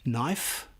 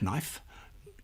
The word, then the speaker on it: knife: These are words where we pronounce one letter, but not the other, like knife, not knife, gnome, not gnome, and thumb, not thumb.